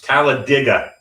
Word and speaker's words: Talladega: It's Talladega, not Thank Alabama. And I'm sure the race car drivers would appreciate the great pronunciation.